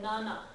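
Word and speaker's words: 七: that's the other thing yon and Nana are standard for phone numbers because she and Shi and I sound too much alike right that could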